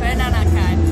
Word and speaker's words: Peranakan: Can you tell us more about the Peranakan? Okay. Did I say it right? Actually, it's like Peranakan. Because it's like they pronounce P like B. B. Yeah, it's like the same as B.